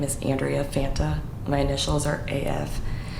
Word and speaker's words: Andrea: How do you pronounce Is it Andrea? Andrea.